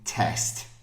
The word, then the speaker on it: test: pronunciation no they don't the first one is test so it's got the e sound like in egg okay test and the